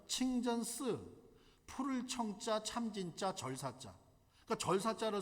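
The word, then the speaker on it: 清真寺: 한자로 뭐라고 써져 있냐면 중국 발음으로 한국 발음은 청진사 중국 발음은 친전 스 푸를 청자 참진짜장 그니까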